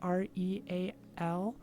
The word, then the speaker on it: real: Like, their money, I think, is spelled Real, but it's pronounced like hey, and that's way too far off for me.